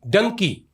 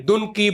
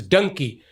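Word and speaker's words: Dunki: actor so he has done a movie dun Dunkey so some people say duny but it's actually the meaning actual pronunciation is Dunkey Dunkey mean yeah Dunkey mean that uh how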